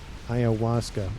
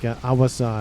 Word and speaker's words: Ayahuasca: Ayahuasca. Yeah, I think I'm saying it right. It's like Awasa is kind of how I think about how I pronounce it.